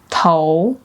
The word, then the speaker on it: 头: 头头头 as a word means head. When used as a suffix, it doesn't carry specific meaning and is pronounced with a neutral tone.